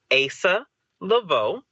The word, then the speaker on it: Asa Leveaux: dude so first off the way you pronounce my name is Asa Lavo and if you if